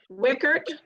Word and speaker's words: Wiechert: So our facilitator today is Sandra Wiechert. Did I say it right, Sandra? You Yes, corrected yes. my pronunciation.